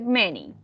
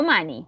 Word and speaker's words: many: Okay, recuerda que la pronunciación es many. No money, many.